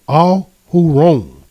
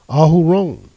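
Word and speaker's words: אהרן: But the fullness of his name, Ahuron, that is the Hebrew pronunciation of Aaron, Ahuron.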